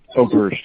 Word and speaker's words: Oberst: Oberst, O-B-E-R-S-T.